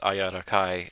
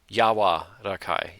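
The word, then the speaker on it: 柔らかい: Ayakai meaning well it's however you pronounce this thing it's ayarakai it was uh soft to the touch yawa rakai yawa okay yawa rakai soft tender flexible limp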